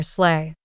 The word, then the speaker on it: sleigh: This one looks simple, but people often mispronounce it as slee or sleigh. Nope. The correct way to say it is sleigh, like slay the dragon, but way more festive.